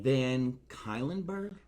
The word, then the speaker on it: Van Cuylenburg: can't talk today um this is hi van kylenburg what yes i said it right okay well